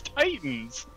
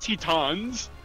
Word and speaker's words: Titans: No, that's not how you pronounce it. It's Titans, not Tetons."